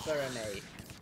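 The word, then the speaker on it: Freminet: Even though it's spelled Farinette, it's pronounced Farinay. For some weird reason.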